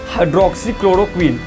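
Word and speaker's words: hydroxychloroquine: तो दोस्तों इसका प्रोनाउंसिएशन है हाइड्रोक्सीक्लोरोक्वीन।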